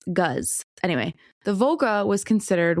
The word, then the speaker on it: GAZ: It was manufactured by the Soviet company, I believe it's GAS, and I believe it's gas is how it's pronounced. Uh or no, I'm sorry, Gus. Gaz.